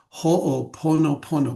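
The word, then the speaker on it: Hoʻoponopono: So ho, because there's two O's there. So you pronounce both O's. Ho pono pono.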